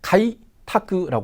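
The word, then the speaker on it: 開拓: 그다음 한자입니다 어떻게 읽습니까 그렇죠 카이 타크라 읽고요 뜻은 개척이 되겠습니다 뭐 계자는 카이라고 읽는게 쉬운데 그죠이 척자 여기서 음독으로 타크라 읽힌다는 것을 좀 주의해 주시면 되겠습니다 자 그다음 한자입니다 그렇죠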